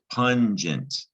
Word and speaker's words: pungent: for a moment here when it's followed by an e you can pretty much guarantee it's a soft g sound gent as in gentle